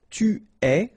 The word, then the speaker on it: tu es: Okay, so, je suis, final S not pronounced, tu es, okay, so it's quite strange because you get this ES, but then phonetically it's est, alright, quite open, tu es.